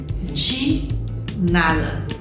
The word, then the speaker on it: de nada: pero la verdad que se escribe con una D y una E, pero se pronuncia así, de nada, pero no nada, más marcado, de nada, de nada.